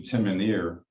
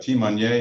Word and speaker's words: timonier: they came up with timonier the English pronunciation timoneer but timonier is French for the Helmsman one who directs the